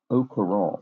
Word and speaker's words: au courant: So, oh, this looks like au courant. So, O would be the missing letter, which sounds, the French AU is essentially pronounced like an O in English.